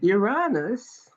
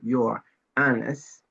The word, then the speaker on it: Uranus: The planet Uranus, which I don't really pronounce Uranus, but it's Uranus.